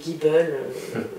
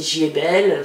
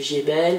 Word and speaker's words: Giebel: ces annéeslà à Paris donc ils l'ont un peu francisé c'estàd la façon de le prononcer ils ont décidé de le prononcer jbelle ça faisait plus français entre guillemets plus qu'allemand quoi et donc c'est resté comme ça voilà moi j'ai toujours entendu jbelle et du coup il se prononce comme ça alors qu'à la base